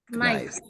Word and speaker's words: knives: Jadi knives, pakai V, V-E-S, knives. Ya. Jadi cara membacanya kayaknya tidak perlu dibaca, nggak usah ikut dibaca. Knives.